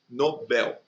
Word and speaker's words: Nobel: a respeito, né, do Nobel. As pessoas têm mania de chamar de Nobel. É errado, o prêmio não é Nobel, o prêmio é Nobel. E novel, né, que no caso também é uma oxítona.